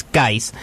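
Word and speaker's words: Guice: Yes, that's how you pronounce it. It's Geis. It's not Geis. It's not Juice.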